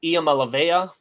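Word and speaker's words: Iamaleava: always laugh at because we thought that was an l and we had mispronounced that for at least a season and a half I think I'm just now learning that was an I yeah I didn't realize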